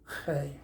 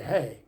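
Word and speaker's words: ה: with the letter the the Jews pronounce the letter hey as though they're clearing their throat hey uh in English we would just say hey but that sounds too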